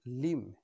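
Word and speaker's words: limb: উম বি এর আগে এম রয়েছে এর সঠিক উচ্চারণ হবে লিম নট লিম বি এর আগে এম রয়েছে এর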